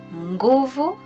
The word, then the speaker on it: nguvu: The letter NG without an apostrophe will give the nga sound.